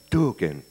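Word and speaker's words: tuargain: And there was a word, T-U-A-R-G-A-I-N, pronounced duking.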